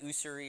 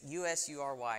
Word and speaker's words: usury: I was pronouncing it like usury or something like that. I'd never seen the word in my life. But it's usury, and does anyone know what that means?